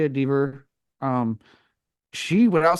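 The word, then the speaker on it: Dever: Um, I mean, Caitlin Deaver, I believe is how you say it, Deaver.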